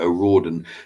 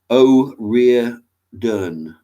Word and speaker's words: O'Riordan: I pronounced it O'Riordan. Surname is always a weird one. It's Irish. O'Riordan. Oh, okay.